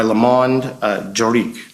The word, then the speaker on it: Le Monde Juridique: of the Year by Le Monde Juridique. Is that correct? That's correct. And did I pronounce it correctly? C'est parfait, oui.